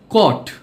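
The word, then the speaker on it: caught: যেগুলোকে সাইলেন্ট শব্দ হিসেবে বিবেচনা করা হয়, যেগুলোতে জিএইচ উচ্চারিত হয় না। এক্সাম্পল, বাও, বাও অর্থ গাছের ডাল। ব্রট, ব্রট অর্থ এনেছিল। কট, কট অর্থ ধরেছিল।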